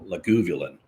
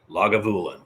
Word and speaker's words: Lagavulin: lagavulin I even had to look up the pronunciation of it because I was calling it leguvulon because I didn't care lagavulin is how it's pronounced that and Scotch is